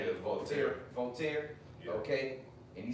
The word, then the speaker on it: Voltaire: Yeah, And even when I was watching the brother from Vegas, he quoted Voltaire, if that's how you pronounce his name. Yeah, Voltaire.